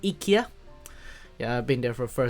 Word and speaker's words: IKEA: Actually, not IKEA. That's how you pronounce it, IKEA.